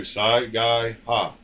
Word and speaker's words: Saiga: Saiga. Yeah, I could have pronounced that if I would have read it.